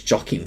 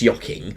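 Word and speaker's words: Joaquin: Ying Phoenix um or my mother says his name as jocking Phoenix but I'm pretty sure it's Ying but um whatever I'm just going to say Ying Phoenix but all right obviously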